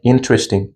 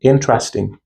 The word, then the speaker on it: interesting: We not in we do not pronounce them like interesting. Interesting. Sorry. We pronounce them interesting. Interesting. Because the e sound is silent which we generally do not pronounce them.